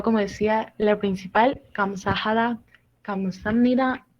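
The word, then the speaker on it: 감사합니다: Y entonces, combinando lo que vendrían siendo estas dos sílabas, tanto que esta B se convierte como una M, pasa a ser como Kamsam. ¿Ok? No es como Kamsahab ni Kamsap, es Kamsam con M. Sam, simplemente las dos sílabas se convierten en una sola como Sam.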